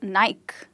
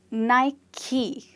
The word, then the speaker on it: Nike: with this sports brand, which is called Nike. Is it? No, it's not. It's called Nike.